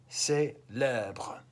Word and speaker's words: célèbre: Look at how the accent on the E changes. That's just a pronunciation thing. Célébrer, célèbre.